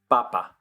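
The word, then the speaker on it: papá: is Papa there the the accent is important uh same kind of situation though just stress on the different syllable so potato is Papa but potato the next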